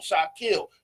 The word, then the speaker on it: Shakil: right a whole song Shot kill that's the name say it right not shot not shill but shot kill yet and